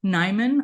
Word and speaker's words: Niman: ton under my own name it is nyman I am the only nyman in the